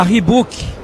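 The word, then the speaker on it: Reebok: a Rebook. Então, usando aí a pronúncia correta, ela entra fornecendo, que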